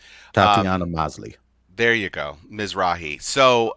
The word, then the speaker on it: Tatiana Maslany: I cannot pronounce her name. Tatiana Maslany.